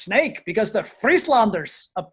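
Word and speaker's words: Sneek: a uh if it's spelled s-n-e-k but it's pronounced snake because they're free slanders up there and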